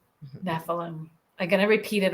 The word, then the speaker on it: Nephilim: I pronounce a lot of things wrong. Nephilim. The Nephilim. Nephilim.